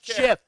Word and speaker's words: GIF: It's a soft G. It's a GIF.